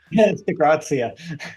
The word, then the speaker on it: DiGrazia: how do you say your last name correctly de graia graia let's start over I kind of like